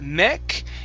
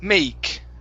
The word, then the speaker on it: make: let's see let's make give me a good long a sound let's make try that let's make okay instead of mech it's a may make make me make good good